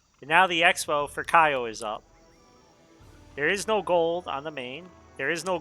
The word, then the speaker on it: Kyo: I never said KO. I said Kaio. How do you say his name then? It's Kyo? Like, no, there's a Y.